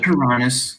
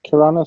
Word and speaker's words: Kiranis: Forget Kuranis, or wait, how do you pronounce that? Kuranis, is that right? It's Kiranis, or you can just call me Kira.